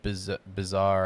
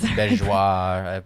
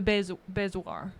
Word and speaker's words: bezoar: I always said bizarre. I'd never. I don't even know if that's Bezoar. I have no idea. Bezoar. I don't know. Yeah. I think you said it right. Was wanting to point out that I've said it wrong for years.